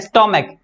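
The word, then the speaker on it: stomach: लेकिन जब सी एच का उच्चारण क होगा, ठीक है, तब मात्र हम एस जोड़ेंगे, ठीक है। यानी बोल के देखेंगे तो इसको बोला जाता है स्टोमक, स्टोमक यानी क आ रहा है, इस सी एच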